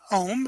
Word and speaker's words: Ohme: Ohm, as in OHM? Well, we spell it with an E, but yes, OHME.